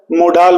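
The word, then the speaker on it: modal: कई लोग मॉडल बोलते हैं और कई लोग क्या है? मोडाल बोलते हैं। तो प्रॉपर प्रोनाउंसिएशन मॉडल ही है, ठीक है। और इट इज अप टू यू हाउ to pronounce it. Right pronunciation is मॉडल।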